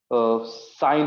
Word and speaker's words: sin: उसको संक्षेप में साइन सिन लिखते हैं, सिन लिखते हैं लेकिन उसका उच्चारण साइन करते हैं, याद रखिएगा। हाँ, इसका फुल फॉर्म है SINE, साइनी, लेकिन उसको पढ़ते साइन है।